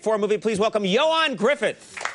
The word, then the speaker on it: Gruffudd: n yes and then Griffith is gr u FF u DD Gruffudd yes that's that's how